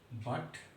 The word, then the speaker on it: but: तो बट में हम यूटी को पढ़ते हैं अट। बट में यूटी का प्रोनाउंसिएशन क्या कर रहे हैं, उच्चारण क्या कर रहे हैं, अट। और पीयूटी में क्या कर रहे हैं, यूटी का उच्चारण उट।